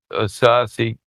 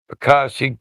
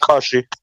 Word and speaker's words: Akashic: So it's almost like he had access to the Asasic text. How do you say that? Akashic text. Akashic. Yep.